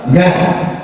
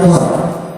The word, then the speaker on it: Gad: Yang ketujuh namanya Gad, bukan War. Jadi bukan dibacanya bukan War. Gad.